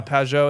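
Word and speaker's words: Pageau: And if people are wondering what this picture is, look up Jonathan Pio. Uh cosmic mountain, dude. Spell Pou. Yeah, Pio. It's one of those French names, French Canadian names.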